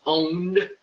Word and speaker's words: pwned: to have I been, it's pronounced owned, but it's a P.